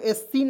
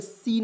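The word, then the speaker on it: scene: तो यहां आप देखेंगे एस सी ई एन ई तो इसे पढ़ेंगे दोस्तों एस सीन नहीं पढ़ेंगे यहां प देखिए एस को साइलेंट करेंगे सीन हो जाएगा सीन मीस होता है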